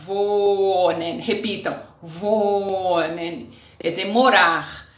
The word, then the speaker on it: wohnen: Repitam, wohnen, quer dizer morar. Sempre que nós temos um H depois da vogal, a vogal fica bem longa.